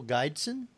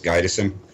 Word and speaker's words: Gydesen: want to welcome back uh Becky and will guidon thank you hello is is that the way you spell it guidon now we actually spell it differently that's just the way to pronounce it is gison oh G okay yeah everyone cannot pronounce our